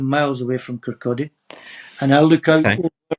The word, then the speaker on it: Kirkcaldy: Everybody says Kirkcaldy because that's how it's spelled, but it's a silent L. It's Kirkcaldy.